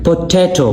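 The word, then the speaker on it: potato: Comparison पोटैटो पोटैटो ये जो बीच में ट है ट इस पर आपने जोर देना है।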